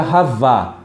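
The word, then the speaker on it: חַוָּה: E o nome Eva, você vê que pronuncia Havá.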